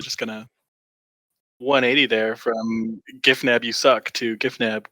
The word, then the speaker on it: Gifnab: question before we get this started is it jif nav or gif nab uh it is giffnab and anyone that pronounces the the word gif as jiff deserves